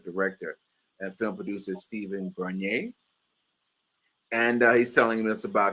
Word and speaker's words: Bernier: I use the French pronunciation Bernier, but Bernier Bernier, is fine. like Perrier, Bernier.